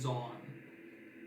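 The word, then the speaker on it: Zaun: with the crown is Zon. Z-O-N? Z-A-U-N. Yeah, it's not. Okay. Rhymes with blonde.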